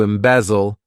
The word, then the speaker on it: embezzle: next verb is a good one embezzle to embezzle this verb has three syllables and the stress is on that second